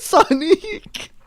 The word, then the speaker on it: Sonique: Are you saying Sonic or Sonique? Sonique. It sounds like it would be spelled with like an IQUE at the end.